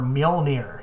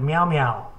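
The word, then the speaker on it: Mjölnir: couldn't pronounce the hammer Mjolnir she couldn't pronounce it sure so she called it meow-meow and every time she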